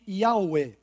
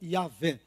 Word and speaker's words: Yahweh: Sendo assim, eles eram monoteístas na sua fé em Yahweh, ou Yahvé, de acordo com a pronúncia ali do Vav, né?